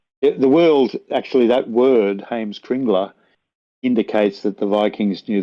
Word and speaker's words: Heimskringla: But if people want to search for Heimskringla in English, I'll just spell it for you. It's HEIMSK RINGLA.